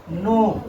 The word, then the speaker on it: know: नो। क्या पढ़ रहे हैं इसको? नो। लेकिन जब इसको पूरा उच्चारण करते हैं तो कनो। लेकिन ये क्या हो जाता है? गलत। यहां पे के क्या होता है? साइलेंट।